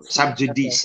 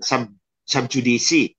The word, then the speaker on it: sub judice: subj sub judice o sub judice or sub jdc but it's a latin word J in Latin is pronounced y and when c is in Between Two vowels It's ch so it's pronounced saud